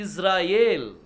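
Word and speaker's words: ישראל: pronounce कर दीजिए पांच हो सो न वी प्रोनाउंस ल दिस फाइव लेटर्स इसे बोलते हैं इजराइल दिस वी से इजराइल आसान लग रहा है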